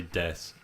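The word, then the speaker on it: です: of stuff Des yeah it's spelled Desu but you say death that's all that's my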